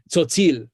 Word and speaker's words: Tzotzil: That TS sound at the beginning of the word and in the middle of the word, tzotzil, it's the same sound at the end of the English word cats.